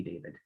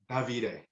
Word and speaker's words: Davide: a very important day david okay it's davide what's that my name it's davide just one extra syllable it's anyway it's it's